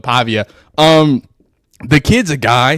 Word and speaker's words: Pavia: absolute dog Diego paa it was they said it pava but Pavia um the kid's a